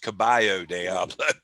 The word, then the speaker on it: Caballo Diablo: really like that song caballo diablo and he goes michael is pronounced caballo diablo i'm like yeah i